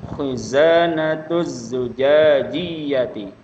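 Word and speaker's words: خزانة زجاجية: Khizanatuz zujajiyati. Bedakan zai dengan ja ya. Zai dengan jim.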